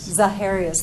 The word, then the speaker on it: Zaharias: correctly because I'm from Minnesota, my mouth doesn't pronounce things correctly, but the Zaharias property? Zaharias, thank you.